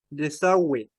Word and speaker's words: desagüe: Sin embargo, la U sí se pronuncia si lleva diéresis. Por ejemplo, desagüe, pingüino, lingüística.